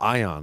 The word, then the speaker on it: Ion: Because he's 2-0 in the UFC, so I'm talking about Ion, not this guy.